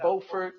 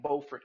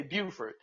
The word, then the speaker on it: Beaufort: And it's So, spelled the same way as Beaufort, South Carolina. But if you're listening, don't go to North Carolina and say Beaufort because you will get beat up.